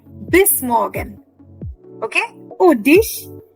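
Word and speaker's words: dich: Oh, dish. No, that is not D-I-S-H, Nitin. It is D-I-C-H.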